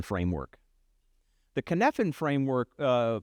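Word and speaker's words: Cynefin: Uh, it's a Welsh word. I think it's spelled with a Y and the Y is not where you think it would be. I think it's C Y N F I N.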